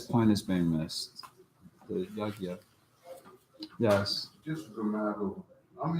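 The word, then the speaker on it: यज्ञ: This actual sound that they said is actually lost in Sanskrit.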